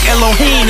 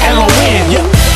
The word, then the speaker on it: Elohin: to explay my name it's not Elon it's not Elin it's not Elohim it's pronounced elen see I'm going to